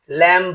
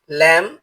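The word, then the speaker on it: lamb: এল এ এমবি ল্যাম্ব হবে না। এর উচ্চারণ হবে ল্যাম যার অর্থ ভেড়া।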